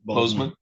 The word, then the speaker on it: Bozeman: That is people of the state of Michigan versus, and correct my pronunciation, is it Bozeman or Bosman? Yes, Bozeman. Bozeman.